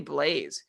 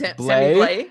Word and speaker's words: Blais: Louis Blues, is Sammy Blais, who's back playing with Ryan O'Reilly and David Perrin. Are you laughing, Elon? I'm laughing at these pronunciations. It's Blais and it's David Perron.